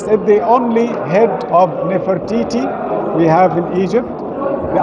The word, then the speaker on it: Nefertiti: Because when I say Nefer means beautiful, Nefer for a man, Nefret with T for a woman. So we must say her name Nefertiti.